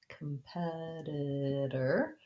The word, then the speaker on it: competitor: to look for that so for competitor um competitor what we want to watch out for is